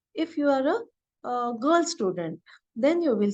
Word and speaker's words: Student: So here, whenever ST comes at the beginning of the German word, it is pronounced as st. And U with umlaut, it's pronounced as U and not U. So it will be student.